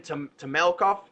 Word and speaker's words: Temelkov: We're here with Temelkov.